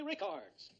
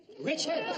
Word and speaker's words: Richards: luck to our own Mary Rickards. Richards? Her name is Richards.